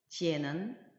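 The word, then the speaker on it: 见: 발음은 지엔이에요. 지엔은 자음에 해당하는 그 성모와 모음에 해당하는 이엔이 결합을 해서 지엔이라는 발음을 형성했고 거기에다가 사성 성조가 표시되어 있기 때문에 지엔, 지엔, 지엔으로 발음하시면 되겠습니다.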